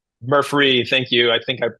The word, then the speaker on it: Murphree: So pay attention to how it's spelled. Murphree, thank you. I think I possibly missaid it at the beginning, Murphy, but no, it's Murph Murphree with a free at the Murphree.